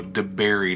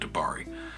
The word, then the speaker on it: DeBerry: all throughout this video De Berry not DeBary somebody probably already commented before they got to the end of the video but it's DeBerry not dabari anyway appreciate you coming